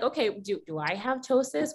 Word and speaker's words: ptosis: And if you're wondering, like, okay, do I have ptosis? What is this weird word that has a silent P at the beginning?